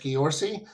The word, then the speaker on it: Ghiorse: the last couple of years his last name is spelled g h IO RS e George Gori you can find him there and I recently